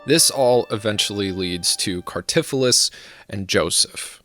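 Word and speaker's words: Cartaphilus: This all eventually leads to Cartiphilus and Joseph. And Cartiphilus, or Cartipulus for you pronunciation Nazis, is also known as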